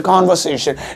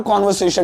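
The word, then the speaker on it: conversation: ओ हम अंग्रेज हम ऐसे बोलते कॉन्वर्सेशन, नहीं ढंग से भी बता रहा, कॉन्वर्सेशन ही बोलते, कन्वर्सेशन नहीं बोलते।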